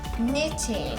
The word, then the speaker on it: knitting: Knitting. That starts with the K. Ah. Okay. There you go. Little silent K action.